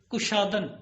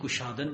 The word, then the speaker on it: کشادن: جیسے کشادن، کشادن کھولنا، اور اب ایرانی گشادن پڑھتے ہیں، کشائش کی بجائے گشائش بولتے ہیں.